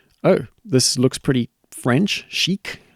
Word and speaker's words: chic: Chic. I say chic. I don't know how other people would say it. Shik. But chic sounds pretty good.